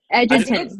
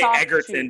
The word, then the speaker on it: Egerton: Is it Edgerton? Edgerton, yes. I always say Egerton because of Kingsman. I think it's a soft G though.